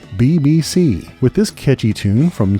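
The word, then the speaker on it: Beebeesea: From Italy comes B-E-E-B-E-E-S-E-A, pronounced, you guessed it, BBC, with this catchy tune from 2020's Day Ripper called Mere Sag, here on Bend and Scoop.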